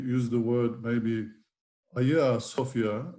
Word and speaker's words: Hagia Sophia: use the word maybe a sofia which is the greek pronunciation it means holy wisdom